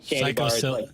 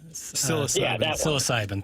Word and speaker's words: psilocybin: I think Chairman Kurt knows how to pronounce it. It's the mushrooms psilocybin. Psilocybin.